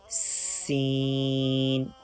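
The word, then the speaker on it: ش: Our next letter is sheen. Sheen. Please read sheen with whistle sound like this.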